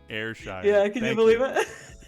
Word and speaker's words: Ayrshire: How do I pronounce it? Ayrshire. Believe it or not. Ayrshire.